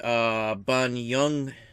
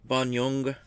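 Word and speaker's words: Bonynge: Richard Banyung, I guess is how it's pronounced. Banyung, I guess.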